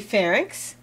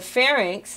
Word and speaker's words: pharynx: Now remember, pharynx, it's inx, Y and X, not NYX. It's not pharynx, it's pharynx. That's a common mistake that people make when they pronounce it and actually spell it.